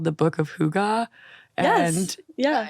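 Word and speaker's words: hygge: I think at first I thought it was higgy because it's like h y g g yeah and then somebody told me that it was Huga and I read the book and they like pronounce pronunciated it that way yeah but it was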